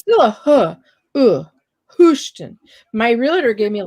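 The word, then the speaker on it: Hoschton: place what's the name of the town houston spell it i was calling it hoshton and they said don't say that in front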